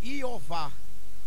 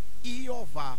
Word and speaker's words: YHWH: Mais próximo de Iud, Re, Vav, Re seria Iová. Iová, por aí assim. Aí os testemunhos de Jeová disseram que é Jeová, mas está errado.